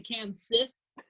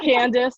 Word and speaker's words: Kansas: People call me Kansas. They're like, your name is not spelled like the state. I'm like, yes, it is. or Candace, we get Candace. I get Candace a lot. but it's yeah. Candace, get it. I can hear that. It sounds like that, but no.